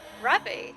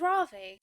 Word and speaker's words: Ravi: to see him alive rabi I know you rabi don't tell me I've been saying his name wrong this whole time I thought it was Ravi this always happens it